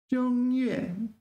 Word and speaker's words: 正月: 正月. This is one of the rare cases where 正 is pronounced first tone.